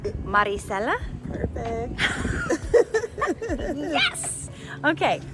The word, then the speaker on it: Maricella: Maricella?